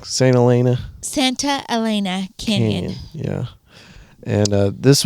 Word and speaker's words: Santa Elena: Santa Elena Canyon.